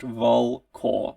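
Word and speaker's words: Volkor: stuck straight into myself the people of volkl pronounced vol cor like a like the sound of raven makes coco are divided between the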